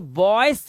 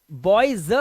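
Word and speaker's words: boys: कहते है ना बॉयज तो बॉयस नहीं बोलते बॉय बॉयज बोलते हैं ज बॉयज ज ज का साउंड आ रहा है देखो आप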